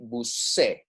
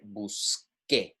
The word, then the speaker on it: busqué: But when a C and an E are when an E is following the C, it is a soft sound, right? So this would be busé, right? Busé. So we want to maintain that sound, and we would say busque, right?